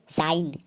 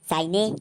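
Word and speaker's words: shine: जैसे साइन, एस एच आई एन ई, इसको हम साइने नहीं पढ़ेंगे, इसको हम पढ़ेंगे साइन क्योंकि रूल के अनुसार वर्ड के लास्ट में ई हमेशा साइलेंट होता है।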